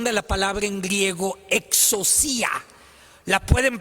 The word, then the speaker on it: exousia: Fíjate, la palabra autoridad es una traducción de la palabra en griego exousia. La pueden pronunciar conmigo: exousia.